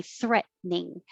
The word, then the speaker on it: threatening: shorter and say threatening once your tongue goes up for the t threat hold it and make the ning threatening the thr combination can be difficult so pull your tongue down before you start curling it back thir if you hear thre then you pulled it back and let it touch the top of your mouth or behind your teeth so threatening i did